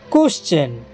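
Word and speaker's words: question: ব্যবহার হইতিলে সেটারে চ উচ্চারিত হয়ে কেমিতিতে দেখিবা কোশ্চেন দেখো পেলাম এটারে এস পরে টি আই ও এন আছে সেটারে চ উচ্চারণ হয়েছে দেখো কোশ্চেন তারপরে নেচার দেখো এটারে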